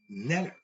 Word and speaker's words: Nefer: It's called the Nefer, N-E-F-E-R, closer to the pronunciation of what? Netter. Only letter changes the F to the T.